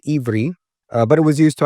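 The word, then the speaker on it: עברי: In the Hebrew language, it's pronounced Ivri, but it was used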